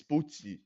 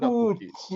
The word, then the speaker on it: Pookie: This is Puchi. Not Puchi. Okay. The Pookie Like Gucci. Oh.